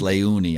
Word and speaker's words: Leuni: The two dots over the U always throw me off, but it's Leuni.